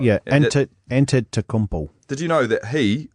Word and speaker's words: Antetokounmpo: Yeah, beating Antetokounmpo was a great move there by Toronto, but they just won't get over Cleveland.